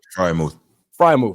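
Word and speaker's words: Freiermuth: I can never pronounce his name right. Frymouth.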